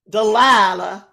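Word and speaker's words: Dalila: and one way another how do you pronounce d a l i l a dilaa and I named my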